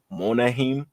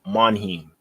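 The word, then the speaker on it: Monheim: leftand side we got Jonah monahim I don't know how to say his real name Jonah yeah Jon Manheim that's how you say his name from USC he plays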